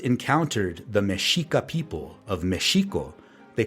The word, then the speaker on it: Mexico: This pronunciation mesho eventually changed to the one we are all familiar with today, Mexico. This happened when the Spanish language underwent a change called a consonant shift and the sh sound